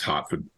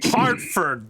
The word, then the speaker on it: Hertford: Having been there, despite the way it's spelled, it's actually pronounced Hartford.